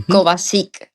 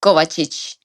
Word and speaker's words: Kovacic: I honestly, here, if you make it an Argentinian name, it's a Kovacic. Yes. But Okay. if you want to pronunciate it the way it is, that it's Croatian, it's Kovacic, Yeah.